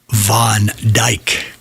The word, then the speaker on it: Van Dijk: And I didn't want to screw it up, so I went to YouTube to see how it was pronounced. Van Dijk.